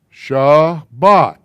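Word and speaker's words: שבת: memory memory cue shot this word how is it actually pronounced sha bhat it gets it has been turned into sabbath here's where you got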